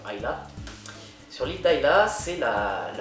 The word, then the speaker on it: Islay: Si vous êtes amateur de whisky, par exemple les whiskies de l'île d'Islay, ça s'écrit Islay, I-S-L-A-Y, en français beaucoup disent Islay, les Écossais diront Islay.